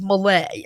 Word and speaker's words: Malay: it was so anyway the correct pronunciation if you're wondering is Malay as in Malaysia right but you can say melee if you like Christy